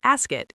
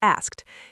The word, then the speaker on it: asked: They might say months instead of months or as it instead of asked.